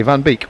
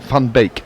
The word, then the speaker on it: van Beek: previously by the way van beek would be pronounced more like fun beak yes we're aware we're